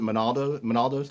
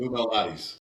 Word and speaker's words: Lou Malnati's: She took us out to lunch, and it was the first experience with it was what is it, Monaldo's, Louis? How do you pronounce it? Lou Malnati's.